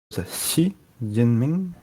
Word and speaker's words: Xi Jinping: So the X I think is sh. So I don't know what the J is in Pinyin. Xi Jinping.